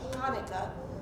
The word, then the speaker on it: Hanukkah: c h a n it doesn't matter because pronunciation is the same unless you give it that guttural sound Now Hebrew will give